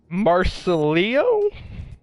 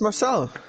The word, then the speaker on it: Marcelo: Marcelio? Alright. Marcelio? I am being told to try and try and pronounce somebody's name in the chat. It's Marcelo. Marcelo? Okay, wow. It's Marcelo.